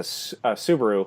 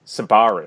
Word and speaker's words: Subaru: interaction with him she and she runs into Subaru who in the English dub is pronounced by somebody who's never driven a Subaru or seen a subaru or heard subaru because they pronounce it as simbari oh yeah almost like the